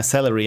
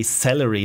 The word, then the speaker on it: salary: My boss promised to raise my salary in October. I always say celery, like the vegetable. Celery. I'm super conscientious about this. I always say it wrong.